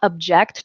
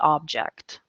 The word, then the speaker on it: object: object to the object they both look like object or object whichever way you want to look at it the word is spelled the same but it's pronounced differently so I i'm so